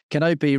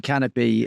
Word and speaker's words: Kanopi: It's a K and an I. So Obi-Wan, the going joke is Obi-Wan Kanopi is sometimes it gets pronounced Kanopi rather than Canopy.